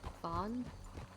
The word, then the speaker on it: Fahan: How do you pronounce it again? Fan. Fawn? Yeah, kind of like the deer.